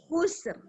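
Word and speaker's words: خُسْر: Khusr. Coba. Khusr. Keluar nafasnya. Khusr. Khusr. Khusr. Khusr. Terasa. Khusr. Khusr. Nanti Khusr. kalau untuk ro, dia harus tebal bacanya ya. Khusr. Tebal ya.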